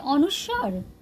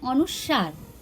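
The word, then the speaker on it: অনুস্বার: बहुत सारे लोग इसे कहते हैं अनुस्वार और बहुत सारे लोग इसे कहते हैं अनुसार। तो ये दोनों प्रोनाउंसिएशन ही सही है। इसे हम लोग अनुस्वार भी कह सकते हैं ना, इसे हम लोग अनुसार भी कह सकते हैं।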